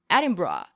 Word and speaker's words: Edinburgh: From the perspective of American pronunciation, it would be Edinburgh, but the (broadcast) was saying, Edin-bra. That was the local way of saying it.